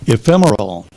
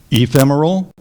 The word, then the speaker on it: ephemeral: existing briefly temporary ephemeral are there any alternate pronunciations there are ephemeral or ephemeral number one pronunciation in the dictionary ephemeral ephemeral e p